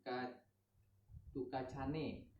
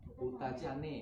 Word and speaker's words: Kutacane: dengar yang namanya tuh kartu kancane berhenti bacanya Kutacane pernah Kutacane Aceh lereng